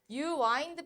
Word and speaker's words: wind: 그러면은 wind back time 이거 윈드 아니야? 와인드라고 발음할 거야. 동사로.